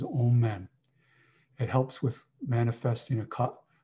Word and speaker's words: amen: to sound all men often known as amen but more properly pronounced as old men it helps with manifesting